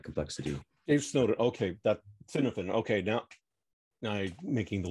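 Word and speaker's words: Cynefin: Dave Snowden, okay, that Cinefin. Okay, now I'm making the link in my head. Yeah, okay. Yeah, it's pronounced Kinevan, I think.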